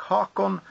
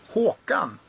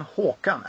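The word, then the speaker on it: Håkan: actually it's it's um Haun cuz in Swedish it's spelled with a o which is which is an a with a DOT over and it pronounces o so it's Yan hawan actually but it's interesting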